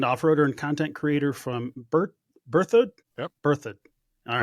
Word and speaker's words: Berthoud: Joining me today is Kerry Garrison, a seasoned off-roader and content creator from Berthoud?